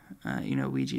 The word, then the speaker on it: Ouija: Ouija is pronounced Ouija.